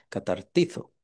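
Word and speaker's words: καταρτίζω: si lo logro pronunciar, es en griego el catartizo, perdón, es con Z, catartizo.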